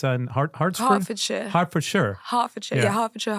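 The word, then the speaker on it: Hertfordshire: what's the name of the C it's hardford Harford Shire Harford Shire yeah Harford Shire Harford Shire uh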